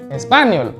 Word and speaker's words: español: cuando empezaste a का मतलब है टू, aprender मतलब लर्न, español, ज्यादातर लोगों का स्पेनिश सीख रहे हैं लेकिन स्पेनिश का ही प्रोनाउंसिएशन गलत होता है, सुनिएगा जरा, español।